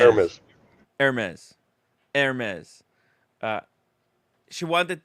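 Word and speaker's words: Hermès: you don't pronounce H. Hermes. Hermes.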